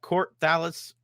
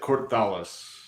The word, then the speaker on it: Kort'thalis: exactly sure how to say it is it court dallas publishing or how do you how do you say that exactly i pronounce it cortholis okay i know it's of a different language